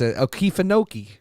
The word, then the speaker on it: Okefenokee: It's Okefenokee.